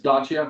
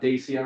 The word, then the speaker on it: Dacia: It's Dacia, not Dacia or Dacia, whatever people say. It's Dacia because I lived in Romania for 4 years, so I know how to say it.